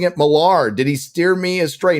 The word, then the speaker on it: Millar: on Rumble by the way I used to pronounce Mark's name as Miller but Gary caused me to start pronouncing it malar did he steer me astray no my pronunciation